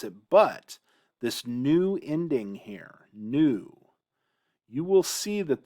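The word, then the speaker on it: היא: And there's a couple ways to remember the difference here, but man, is this unfortunate. Because in Hebrew, this word is pronounced he. He. Just like this. It's pronounced the same way, he.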